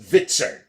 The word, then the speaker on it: VTSRN: VTSRN, pronounced Vitzern.